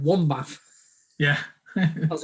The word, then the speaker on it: Wombbath: Wombbath.